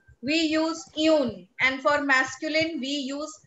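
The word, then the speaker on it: une: Then another rule that we studied is, for feminine things, if we want to use a, we use yun.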